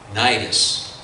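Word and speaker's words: Cnidus: number of days and arrived with difficulty off nidus now the sea is silent in that word and as the wind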